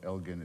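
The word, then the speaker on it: Elgin: And if I've done nothing else I'm sure now every one of you knows that Lord Elgen is pronounced with a hard G.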